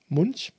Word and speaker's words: Munch: is a painting from Edvard Munch Munch Edward Munch I think is the correct pronunciation I think it's it's